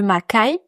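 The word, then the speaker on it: Makay: Et puis un troisème endroit que je n'ai pas encore visité mais que j'aimerais visiter, c'est le massif du Makai. OK. Donc ça s'écrit M A K A Y.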